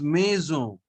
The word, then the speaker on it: maison: Okay, on gives a nasal sound and n is not pronounced at the end, so it is maison.